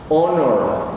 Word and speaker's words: honor: Honor, la H no suena, es completamente muda.